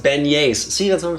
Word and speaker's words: beignets: Also, it's pronounced beignets.